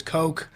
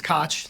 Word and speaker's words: Koch: uh often enough it my last name gets mispronounced as Koch and I think I made the brief joke